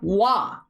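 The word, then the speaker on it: は: Something worthy of note is the ha kana is almost always pronounced like wah. When y'all joke about watashi wah, you're actually using this wah here and not the actual wah that is shown here.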